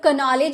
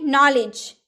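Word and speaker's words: knowledge: नॉलेज, क्या हम लोग कनॉलेज बोलेंगे? नहीं ना, क्योंकि यहाँ तो के साइलेंट है, इसलिए नॉलेज ज्ञान।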